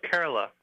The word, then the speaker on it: Kerala: on in the Indian state of is it pronounced Kerala yeah very close Kerala Kerala okay good to know Danny tell us